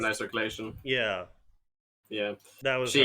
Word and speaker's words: Renai Circulation: Is that how it's pronounced? Renai circulation.